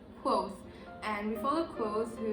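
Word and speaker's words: Kvothe: main character is quote it's written like this and uh you pronounce it as quoth and we follow clothes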